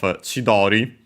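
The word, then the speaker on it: 千鳥: Yeah, for example, you might have heard of Chidori uh actually accent on the first um uh more uh uh technically PL uh but yeah literally thousand uh bird.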